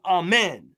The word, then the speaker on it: Amen: The accent the accent is on the second syllable. So his his real name is Amen.